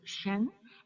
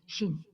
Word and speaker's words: Shen: So your name in Chinese pronunciation is Ms. Shen, and in Japanese it's Ms. Shin.